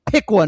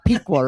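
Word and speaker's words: Piqua: I say it's PUA, not Pqua, right?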